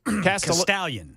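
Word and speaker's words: Castalian: How do I pronounce this, Ken? Is it Castellayan Springs? Castallion. Castallion Springs has alligators and pythons.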